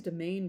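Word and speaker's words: demesne: or territory why is domain pronounced domain the S is silent our word domain also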